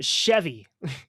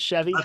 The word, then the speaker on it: Sheavy: stoner rock group um chevy is that how you pronounce it chevy how you pronounce it yeah all right i was thinking that that's a very clever name it's very very cool it's like the car but it's not that's